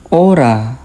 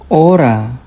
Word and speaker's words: hora: The silent letters in Spanish is the letter H. For example, hermano. Hermano. Hospital. Hospital. Hora. Hora. The H doesn't make a sound.